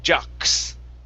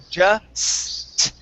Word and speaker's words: just: You're saying jux. Jux. Okay, the S is not an X sound. Okay, you're adding in a K and an S. Okay, so all you need to do is pronounce an S.